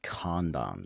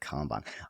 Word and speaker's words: Kanban: I love your pronunciation of Kanban. It's got a calm to it, Kanban. I always think Kanban in my head, but I think I might try and pivot to your way of doing it. It doesn't work well if you're trying to use talk to text. It'll spell it C-O-N, like a con artist.